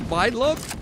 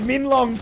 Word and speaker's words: Minlong: I'm pretty sure is this Mindlong? You call it It's like literally Mindlong or something. no, it's Minlong per the pronunciation sheet.